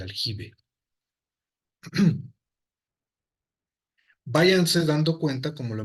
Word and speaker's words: aljibe: En árabe clásico o estándar se dice como se yub, al yub originalmente, pero en España, o bueno, lo que posteriormente fue España, se pronunciaba como ge, ¿vale? Ese es el aljibe.